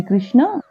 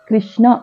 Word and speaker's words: కృష్ణ: కృష్ణ కృష్ణ అని పలకూడదు మనం ఎలా పలుకుతాం అంటే సాధారణంగా అయితే క కి గుడి పెట్టినట్లు గుడి ఇచ్చినట్లుగా అంటే గుణింతల్లో ఇకారం కలిపినట్లుగా కృష్ణ అని పలుకుతాం ఇది మనందరం చాలా సంవత్సరాలు బట్టి చేస్తున్న ఉచ్చారణ దోషం ప్రొనౌన్సియేషన్ మిస్టేక్ అలా కాకుండా ఋకారం కృష్ణ అని పలకాలి కృష్ణ అనేది కరెక్ట్ కృష్ణ కాదు నకాంక్షే విజయం కృష్ణ నచ